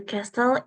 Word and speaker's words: castle: The castle is much bigger than the hotel. The castle, ini bacanya castle. T-nya nggak The dibaca. castle. Castle.